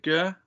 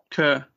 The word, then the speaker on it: Kerr: I think it's Sam, is it Gurr? I could be saying the last name wrong. Kerr. Kerr, that's it.